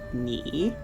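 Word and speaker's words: 你: Character for you is pronounced ni.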